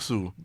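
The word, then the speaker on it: Suh: Damakung Damakung Su. If Damakung. The end is silent. Oh, so it's Damakung Su.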